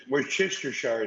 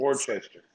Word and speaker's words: Worcester: So it's Worcester, but it's like okay. Let's see here. Let's see. How would you pronounce this? Read my town. How you would pronounce that? Read where I live. How do you pronounce? We're Chestershire sauce. Yeah, you see, We're that's the wrong Chester. way. Worcester. Yeah, okay, you see, so it